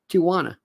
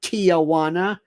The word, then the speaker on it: Tijuana: Take somebody from Barcelona or Madrid, compare it with somebody from Tijuana. And by the way, don't ever say Tijuana. It's Tijuana, T-I-J.